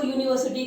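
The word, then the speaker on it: university: यूनिवर्सिटी में यहाँ अगर इंग्लिश के अकॉर्डिंग देखा जाए तो यू हमारा वोवेल है, लेकिन अगर इसका प्रोनाउंस किया जाए इसको यूनिवर्सिटी को तो या का साउंड आता है, यानी कि य.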